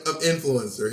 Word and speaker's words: influencer: The accent is on influencer. In.